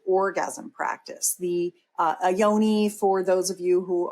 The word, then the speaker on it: Yoni: or the expanded orgasm practice the uh a Yoni for those of you who are here with